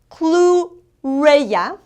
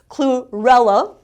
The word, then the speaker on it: chlorella: Chlorella, and it actually in English is pronounced chlorella. In Spanish is chlorella.